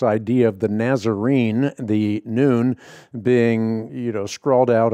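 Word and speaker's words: نون: letter of the Arabic alphabet on it pronounced noon and it's a symbol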